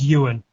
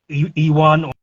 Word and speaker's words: Ewan: too hard but uh the pronunciation of my name um is Ewan uh I guess it's not like it's not a name over there as far as I'm aware most uh people from the states pronounce it E1 or or or some version